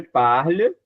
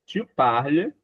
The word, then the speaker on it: parle: E por que que eu não falo o e forte? Porque ele não é pronunciado. Esse ezinho no final a gente não pronuncia. Sémonia. Esse outro ezinho também não pronuncia. A gente termina no L.